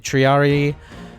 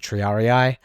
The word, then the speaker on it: triarii: the same role in a formation whereas the triarii yeah that yeah in the original game they pronounce it triarii but the official pronunciation is triari um so